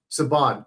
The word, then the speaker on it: Saban: Saban.